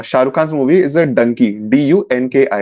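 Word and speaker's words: Dunki: Khan's movie is a donkey d-u-n-k-i it sounds like donkey and will be explained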